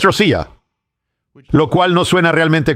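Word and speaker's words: Россия: Rusia en ruso no se pronuncia Rush o Ros. Es Rosia, lo cual no suena realmente como Ros.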